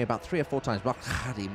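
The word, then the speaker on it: Mokgalagadi: It's a sound that we don't do, and she said it to me about three or four times. Mokalagadi, Mokalagadi.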